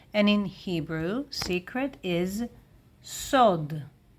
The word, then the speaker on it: סוד: And in Hebrew secret is sod. Sod sod masculine singular. And in plural, yes, we have here tough and it looks a bit feminine, but no, still masculine plural. Sod dot sod sod dot.